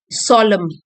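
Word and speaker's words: solemn: सोलम, एन साइलेंट है, गंभीर, adjective है ये, आदर से भरा या गंभीर।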